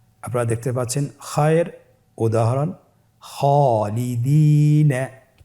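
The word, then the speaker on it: خالدين: আলিফের উদাহরণ আপনারা দেখতে পাচ্ছেন, খায়ের উদাহরণ খালিদিন। খায়ের পরে যেহেতু আলিফ হরফটি রয়েছে তাহলে আপনার আলিফ হরফটিকে মোটা করে পড়তে হবে।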